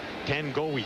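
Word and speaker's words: Tagoai: Well, the pronunciation I got was Tangawahi, but when you look at the way it's spelled, T-A-G-O-A-I, how do you get Tangawahi? I asked him yesterday, and they said Tangoe.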